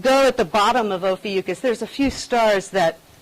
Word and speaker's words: Ophiuchus: Ophiuchus. That's how I say it. Ophiuchus.